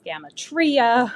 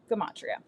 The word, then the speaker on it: gematria: Now, some people pronounce this gamatria. I've heard gematria. I've heard I trip over it. I've heard all kinds of different pronunciations. I call it gematria.